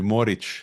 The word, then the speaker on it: Morić: with the last name it should be Morić, like the Morić.